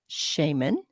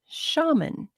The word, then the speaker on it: shaman: Some people say shaman, and some people say shaman. So, shaman, I found out, is the US or the American pronunciation, where shaman is the British English pronunciation. Both are correct if you do hear people say that.